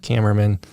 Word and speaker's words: Kamerman: Today, though, we have Jessica Kamerman. Is that how I say it? Yep, Kamerman.